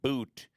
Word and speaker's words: Bout: she was exchanged for Victor bout or I should say pronounced boot Victor boot who is